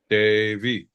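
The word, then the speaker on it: Devi: Davy. Horrible. It's spelled Debi, but I listened to a couple of audio clips of her saying it. So She doesn't know how to say it.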